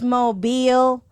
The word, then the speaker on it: Mobile: It's Mobile, not mobile, even though it's spelled mobile.